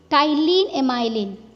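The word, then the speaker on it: ptyalin: ठीक है, एक तो होता है टाइलिन एमाइलेज, ठीक है गाइस, इसे हम पी से लिखते हैं, बट पी जो है इसमें साइलेंट होता है, टाइलिन एमाइलेज।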